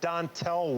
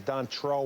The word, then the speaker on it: Dontrelle: Well, you know, the first thing is it's not Dontel Willis, it's Dontrelle Willis from the Florida Marlins.